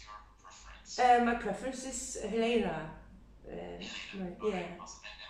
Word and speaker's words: Helena: My preference is Helena. Helena. Yeah. Okay, awesome. And am I pronouncing that correctly? Yeah, of course. Yeah. Helena?